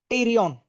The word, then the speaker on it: pterion: P T E R I O N. Now T is silent. T is silent. Just like I am in Spain, I am in Spain, but the S is silent. So I'm just in pain.